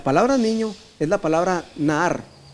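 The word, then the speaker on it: נער: La palabra niño es la palabra Nahar y se escribe N-A-A-R y quiere decir un jovencito entre 17 y 18 años.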